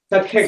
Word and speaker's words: Sacré-Cœur: How do you pronounce it? Sacré-Cœur. Sacré-Cœur.